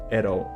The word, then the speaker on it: at all: colocou no final né at all a gente lê juntinho at all né americano Tem essa mania de mudar o t pro R né erol e significa pessoal de